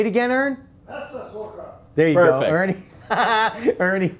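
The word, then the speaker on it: Messsucher: I mispronounce things all the time. We'll say it again, Ern? Messesucher.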